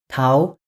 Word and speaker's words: тау: Tau, Awin.